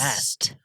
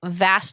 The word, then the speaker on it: Vast: call him vast vast vast that's a cool name with a V yes like vast opportun vast opportunities like Vash but not spelled the same or spell sounded the same vast vast Victor Alpha